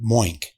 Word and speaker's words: Moink: So it's spelled Moink, M-O-I-N-K, Moink.